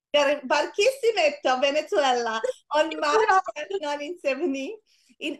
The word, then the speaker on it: Barquisimeto: Barquisimeto. Barquisimeto, Venezuela, on March 1970.